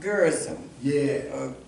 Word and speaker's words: Gerizim: And the one reason in my research, I found out that the Samaritans built their temple on Mount Gerizim.